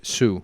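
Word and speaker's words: Hsu: silent stephanie it's hs sue okay so h is silent okay uh jenny slate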